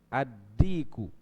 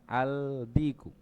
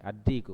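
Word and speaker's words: الديك: Dikun, ad-diku, bukan al-diku, tapi ad-diku. Berarti juga syamsiyah.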